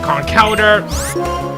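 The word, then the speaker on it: Conkeldurr: had to get to its final evolution of con Calder and that's how it's pronounced I know they're gonna call it a conquered in the past but a lot of people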